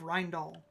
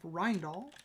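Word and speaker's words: Rijndael: And again, if you're interested in AES specifically, The Design of Rindal is such a good book.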